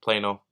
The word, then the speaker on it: Plano: Dallas, Texas, Memphis, Tennessee, Fort Worth, Arlington, and Plano, Texas.